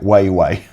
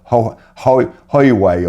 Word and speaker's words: Huawei: Now, somebody told me how to pronounce this, and it's something like Weiwei, or Hoiwei, or I've forgotten how you pronounce it.